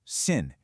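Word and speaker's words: 信: This character sin pronounced sin.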